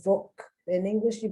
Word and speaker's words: Volk: In Germany, they pronounce it the Volk.